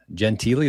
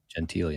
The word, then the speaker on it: Gentile: our guy Brendan Gentili. That's how you pronounce it, right? Yes, sir. Gentili, nice.